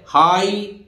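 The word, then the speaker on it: high: इसी तरह हाई, देखिए जी एच साइलेंट, पूरा जी एच साइलेंट है, केवल हाई एच आई बोल रहा है, हाई माने आप जानते हैं ऊंचा है।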